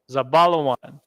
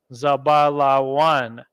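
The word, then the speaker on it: זבולון: Simeon equals shamai 1 equals Dominicans zebulun equals zabalawan they soak a Guatemalans to Panama Central America zabala one zabala one Ephraim means equals aparayam so-called Puerto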